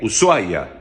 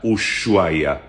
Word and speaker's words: Ushuaia: En español, la H sería muda. Sería Ushuaia. O la SH inglesa, Ushuaia.